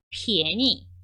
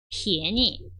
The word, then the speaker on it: 便宜: 便宜便宜 자, 발음 한번 볼게요.